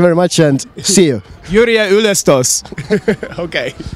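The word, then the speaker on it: Jüriöö ülestõus: That is the meaning, but now is the pronunciation is Yrjö Ylestos. Yrjö? Ylestos. Yrjö Ylestos. Yes, thank you, Jeff. You have just learned Estonian. Thank you very much and see you. Yrjö Ylestos.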